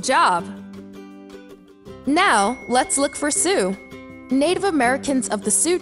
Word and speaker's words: Sioux: e e awesome job now let's look for sue native americans of the sioux tribe were known